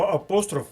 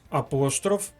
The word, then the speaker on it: апостроф: іншомовних словах До речі слово апостроф має подвійний наголос апостроф і апостроф нам звичніше вимовляти слово